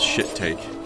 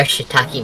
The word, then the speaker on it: shiitake: That's pretty good, even if they did mispronounce shit take. Pretty sure they are shiitake mushrooms.